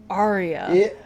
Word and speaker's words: Arya: Um they're like Arya and it's like yeah like the thing they do in operas. Arya.